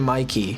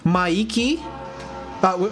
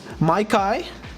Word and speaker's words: Mikey: I'll be offended if you don't pronounce my name Mikey. Okay? But my name is spelled in a way that is like properly pronounced in Japanese. So Maiki, right? And a lot of people have called me Maiki, which is like somewhat correct, yeah. Maikai, Meiki. And I get low-key offended by that, but I don't say a thing.